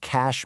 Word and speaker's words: cache: So, to stop the CPU from lagging while it waits for RAM to catch up, we have cache memory, pronounced just like cash money.